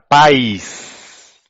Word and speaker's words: país: Agora, país. Então, você tem duas sílabas.